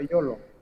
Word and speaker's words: Yolo: Déjà, Yolo, parce qu'on prononce ça Yolo.